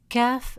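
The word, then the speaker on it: كاف: C in come deep except that in Arabic calf is always light and soft pronounced from the front of the mouth. While cough is always deep and heavy, pronounced from the upper part of the throat.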